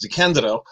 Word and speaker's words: DeCandido: should point out that my last name is pronounced d candido damn it Joe damn